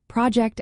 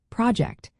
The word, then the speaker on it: project: For instance, project as a noun has the stress on the first syllable, but as a verb, project, the stress shifts to the second.